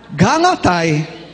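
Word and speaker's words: Γαλάται: descendent do Povo Celta em grego Celta se pronuncia o quê galat não é então esses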